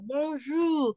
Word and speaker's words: bonjour: Bonjour. Y es una pronunciación nasal.